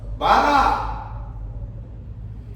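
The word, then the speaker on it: ברא: O verbo criar, que aparece 17 vezes ao longo do Antigo Testamento, em hebraico, se pronuncia assim: bará.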